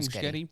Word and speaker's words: Muschietti: Muschietti?